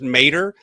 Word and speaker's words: Maderer: even correct you, but it's actually pronounced Mater. So if you've seen the movie Cars, that's the Uh-huh. easiest way to remember it, is it's Yes. just like Tow Mater, but it's with a D instead of a T.